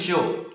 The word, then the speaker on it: Shio: what's your first name then first name is show show like oh so it's actually yeah correct